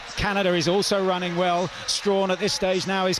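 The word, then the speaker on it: Strachan: World Junior Champion Antonique Strawn her surname looks like Sten but she says she wants to pronounce it stra she's in five and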